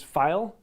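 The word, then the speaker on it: Pfeil: the best out there is file p f p h it's spelled weirdly um i i like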